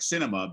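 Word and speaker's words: Sinema: she said you know although her name is spelled what s-i-n-e-m-a it's an ema like cinema because it's such a show uh that we're watching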